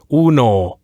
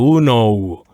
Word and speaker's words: uno: Yes, in Spanish it's very typical for us to just every vowel it only has one sound. Like for example, cero. I would say it should be said like that, cero, as opposed to zero. See, just let's finish the words in one sound.